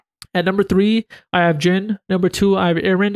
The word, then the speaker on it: Zin: game that it's pronounced jyn I used to call him the Zin z i n cuz that's how it's spelled he's from trolls in